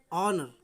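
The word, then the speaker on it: honour: जैसे इसमें देखते हैं HONOU, और अभी क्या, हॉनर नहीं, ऑनर, ऑनर, ऑनर मीन्स सम्मान। तो आपका एच दिया गया है, एच आपका साइलेंट रहेगा।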